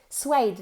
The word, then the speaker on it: suede: Suede. Now, suede is spelt S-U-E-D-E. Pero se pronuncia suede. Suede, con una D fuerte al final.